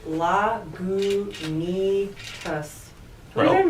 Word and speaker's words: Lagunitas: You put more goo in it.